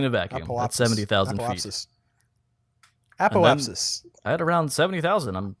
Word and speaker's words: apoapsis: I saw the P's in front of the first S, which is not how I say it. I don't think. Apoapsis.